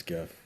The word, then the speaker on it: GIF: Anyone who says, also it's the worst kind of people, like the worst kind of people who say, actually it's pronounced GIF. It's a soft J.